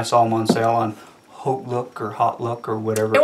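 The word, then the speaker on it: HauteLook: It's Hotlook because your look's hot. So they also sell them at Nordstrom Rack, where I first bought some, but then I saw them on sale on Hotlook or Hotlook or whatever.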